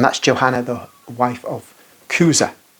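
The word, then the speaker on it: Chuza: Johanna the wife of kuza i' I've always pronounced him incorrectly but it's kuza and he is herod's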